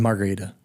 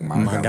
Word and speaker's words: margarita: you can roll the R like margarita, Margarita. if you really wanted to.